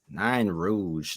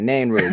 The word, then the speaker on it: Nain Rouge: I love how you pronounce it. Nine Rouge. What is it? Nain. Nain. All right, Nain Rouge. There you go. And guess what? I will never say Nine Rouge again.